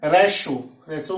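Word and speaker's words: ratio: अब यहाँ पेशेंट यानी कि टी के बाद क्या है, आई ई है, इसलिए इसका उच्चारण क्या हुआ, श हो गया। उसके बाद है रेशो मीन्स अनुपात।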